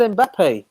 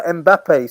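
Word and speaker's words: Mbappé: comes across between them I said in Pepe honestly you should go watch it oh sorry guys so I butchered that no mbappe sorry sorry God um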